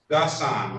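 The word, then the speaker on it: Ghassan: Gassan, right? G-H. Yeah. A-S-S-A-N, correct? Yeah, the G is silent.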